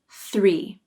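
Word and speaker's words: three: the number 3 3 the difficult part of this word is the thr cluster sir let's break it down start with the voiceless th sound this th receives the full pronunciation with the tongue tip out then the tongue pulls in quickly for the ER and remember to pull the tongue up and back and push the sides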